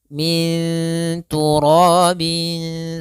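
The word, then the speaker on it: مِن تُرَاب: Maka cara membacanya yaitu suara nunnya disamarkan ke huruf ta. Min tu, ya, anta, min turabin su.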